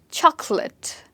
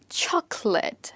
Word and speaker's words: chocolate: Chocolate. How do you pronounce it? Chocolate. And how many syllables do you think this has? According to me, there are 3 syllables in the word. Chocolate. Of course, you don't speak like that, but the word breaks like that.